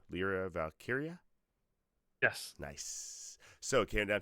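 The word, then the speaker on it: Lyra Valkyria: and valky how do you say her name lra valkyria yes nice so came down to those four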